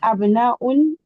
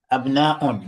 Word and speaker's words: أبناء: it Abnaun or Abna'u? Yes, أبناء, because it's not in the pattern of أفعلة.